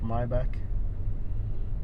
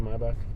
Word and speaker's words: Maybach: oh well yeah Maybach notice that you pronounce my back everybody says Maybach it's actually my back home and came to